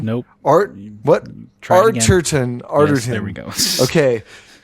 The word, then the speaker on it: Arterton: And one of my earliest crushes in Hollywood, Gemma Arterton, not Arterian. Nope. Arterton.